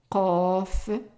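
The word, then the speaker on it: قاف: It's qaf. It's like a Q, but also pronounced in the back of the throat. So it's qa, qaf, qaf, kaf, just like a regular K, kaf, lam, lam.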